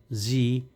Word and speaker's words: Sie: Dear students, अगर एस के बाद वावल हरूफ में से कोई एक भी आ जाए तो जो एस है वो जेड की आवाज़ प्रोनाउंस करता है।